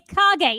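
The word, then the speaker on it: 影: I'm it's pronounced terrible. Kage. You know this shadow. already. You know Kage. this already. It's Kage.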